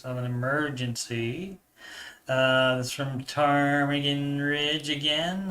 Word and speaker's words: Ptarmigan: That's from Ptarmigan Ridge again. I assume the P is silent there.